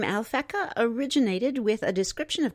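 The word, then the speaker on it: Alphecca: The brightest star in Corona Borealis is Alfikica. We'll spell that A L P H E C CA, also known as Gemma, G E M A. Sometimes called the pearl of the crown. The name Alfeca originated with a description of Corona Borealis as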